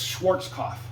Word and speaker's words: Schwarzkopf: why this I I don't know how to pronounce the name um schwar oh it's Schwarz cough it's a professional stuff but Schwarz cough blonde